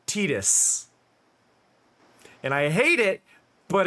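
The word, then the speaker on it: Tidus: thing here's the thing the character's name officially in interviews is tetus it is supposed to be Titus it was written to be Titus but the official English pron pronunciation is annoyingly tetus and I hate it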